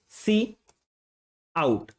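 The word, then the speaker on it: cout: सी आउट का इस्तेमाल किया इसको हम लोग प्रोनाउंस करते हैं किससे सी आउट इसका मतलब होता है हमारा जो इनपुट होता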